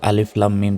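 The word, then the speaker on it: الم: উচ্চারণটা হবে আলিফ লাম লামে চার সেকেন্ড টান হবে কারণ উপরে মোটা চিহ্ন থাকলে চার সেকেন্ড টান হয় এবং মিম অক্ষের উপর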